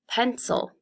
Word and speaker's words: pencil: Pencil. Now with pencil, you hear the eh louder. Pencil.